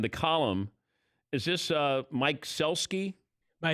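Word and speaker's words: Sielski: Jerry Krause and the column is this Mike Celski by it's pronounced heel ski SIL ski yeah he's the head head columnist now for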